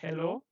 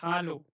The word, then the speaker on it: Hallo: This is not hello. This is hello. Okay. Hello. So uh not like English. When you read such words you have to read it as German word not as English word.